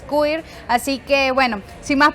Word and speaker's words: Cuir: Creo que lo pronuncio bien. Por ahí me dijeron que es Cuir.